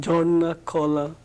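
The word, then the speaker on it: Jharna-Kala: Do I pronounce it correctly? Jarnacola? Yes, it's correct. It's called Jarnacola.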